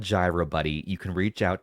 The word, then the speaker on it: gyro: It's not pronounced Euro. It is Gyro Controls on Android.